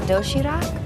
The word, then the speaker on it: Doshirak: It's called Doshirak? Yes. Am I pronouncing that right?